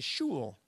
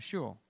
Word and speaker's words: shul: i i'm going to shul uh sure it rhymes with cool but it's not and and she's she